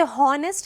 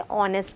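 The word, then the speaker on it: honest: हो रहा है लाइक वाइज़ ऑनेस्ट ऑनेस्ट का स्पेलिंग क्या होता है एच ओ एन ई एस टी हम उसे हॉनेस्ट कहते हैं क्या? नहीं। हम क्या कहते हैं? उसे ऑनेस्ट कहते हैं।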